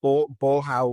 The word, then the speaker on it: Bolhão: I'm probably going to mispronounce this. It's It's the Bolhão market, b o l h a o, um,